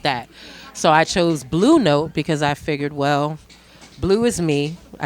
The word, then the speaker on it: Blou Note: And I put that together as Blue, which is why it's spelled B-L-O-U.